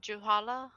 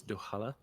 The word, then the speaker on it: Duhala: Did you see any business names for, like, I don't know, like lawyers or with the name Dushala, whatever? You would know their last name. It's Duhala.